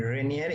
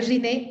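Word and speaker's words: Rinne: No entendió muy bien el test de Renier y el test de Swatch o no me acuerdo cómo se pronuncia. Y el test de ¿qué? El test de ¿qué? De Riné.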